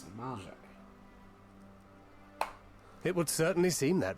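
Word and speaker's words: Amalj'aa: And thus did we make allies of the Amalja. Oh, that's how you pronounce it, Malja.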